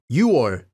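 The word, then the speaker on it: 6월: boiling hot note that uor meaning June is pronounced uor remember that the verb TWA can be used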